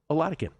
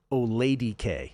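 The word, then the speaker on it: Oladokun: Oh, he was saying they were saying it Oladike. Well, that's not correct, Ronnie Roach. That's how they were saying it. It's Oladikin like Vatican, as you were saying off air.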